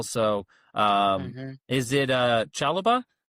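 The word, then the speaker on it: Chalobah: So um is it uh Chaloba, right? That's how I'd pronounce it. Yep. Chaloba.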